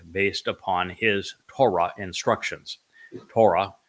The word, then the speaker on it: Torah: Torah derives the O sound from the Hebrew Wa.